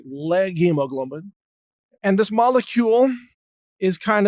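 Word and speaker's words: leghemoglobin: legume version of hemoglobin, which is pronounced something like leg hemoglobin.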